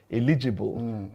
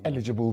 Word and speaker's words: eligible: I used to pronounce that word as eligible. Tokumbaai taught me eligible voters stress on first syllable.